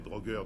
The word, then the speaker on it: drogueur: y a encore les drogueurs dont il faut se méfier drogueur ok c'est comme ça que ça se prononce oui donc je ah